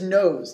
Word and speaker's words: knows: n o WS although it looks like it's pronounced canals it is nose does anyone know what the meaning of this